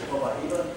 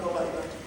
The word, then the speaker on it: Copaiba: Some people pronounce it Copaiba, but in Brazil they pronounce it Copaiba.